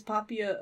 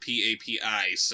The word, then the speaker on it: Poppy: he have to be it's Poppaea a boy it's spelled PAP ice oh okay yeah that's yeah not papi like Tim Burton's little chihuahua